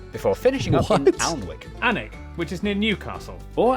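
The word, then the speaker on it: Alnwick: Followed by a stop in Quernmore Quamer before finishing up in Alwick Anig which is near Newcastle or as the people from the city itself say Newcastle.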